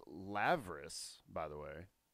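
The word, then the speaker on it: labrys: It's pronounced Lavris, by the way. It's a V It's a sound. V? It's a V sound.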